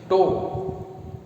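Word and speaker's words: tau: इसे टो symbol बनाऊंगा अभी मैं, टो या टाउ भी प्रोनाउंस कर सकते हो, से व्यक्त किया जाता है।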